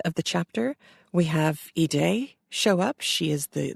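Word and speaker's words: Haydée: her name is spelled h a yde but pronounced eay so if you are American I imagine you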